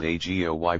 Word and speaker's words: AGOY: there is a formula and it is called ago I pronounce agoi those who are interested will apply as